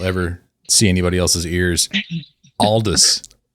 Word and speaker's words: Aldous: said like is it Aldis? Aldis? No. Yeah, it's Aldis. So British people pronounce it oldest. Aldis but Canadians like North America it's like oldest I guess.